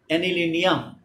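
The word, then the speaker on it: anilinium: অ্যানিলিনিয়াম ইয়াম উচ্চারণ হয়, carbonium phosphonium ধনাত্মক যৌগমূলকের ক্ষেত্রে ইয়াম উচ্চারণ হয়।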